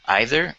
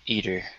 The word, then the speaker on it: either: is no correct pronunciation you can say either or either um a lot of times it just depends on where you grew up okay now this is